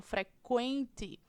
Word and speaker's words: frequente: Infrequente, eu tenho aí também a presença do QU, no entanto, eu pronuncio o Q e também pronuncio o U, né? Quando eu falo frequente.